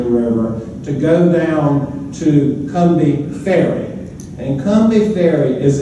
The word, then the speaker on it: Combahee: Half of it went up to the Cumbie River. it's written Combahee, but you gotta say it Cumbie, or everybody will know you're not from here.